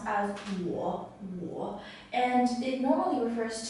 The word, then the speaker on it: 我: this character is pronounced as a war war and it normally refers to I I